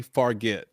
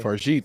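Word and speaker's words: Fargeat: The substance, Coralie Farget. No, no. This is no. I think the G is a J sound, so this would be a Farjit. Farjit.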